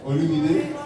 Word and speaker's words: Olumide: So her name is Eunice Olumide. Am I saying that right? Yeah, Olumide. I'm not doing it, so you know I said it right.